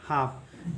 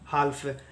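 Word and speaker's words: half: पढ़ेंगे हाफ ठीक है ना कि काल में पाल में बाल में हाल हाल्फ ऐसे इसका उच्चारण नहीं होता है ठीक है एल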